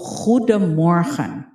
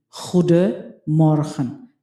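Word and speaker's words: Goedemorgen: So let's go to Huda Moran. Huda Morhan. So meron narinig niyo naman yung letter G. Hud moran. Para kang naglilinis ng iyong bunganga.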